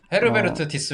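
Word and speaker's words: Diess: 회장의 밀려 쓰면 이거 어떻게 발음해야 diss 디스 특사 아리스 d 모 씨 그리스 ups 디스가이아 아니에요 그냥 디스 여자니까 오케 아 도원이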